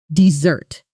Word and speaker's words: dessert: Dessert, with stress on the first syllable.